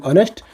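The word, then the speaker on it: honest: इज ऑनेस्ट नहीं हुए किंतु ऑनेस्ट रो तार प्रोनाउंसिएशन टा हमर भावेल रो दउछे तो यार आगरू एन लागबा आवर देखो एच साइलेंट रहउछे आवर यार आगरू एन लागबा यार आगरू एन लगवा बुझी पारुछ।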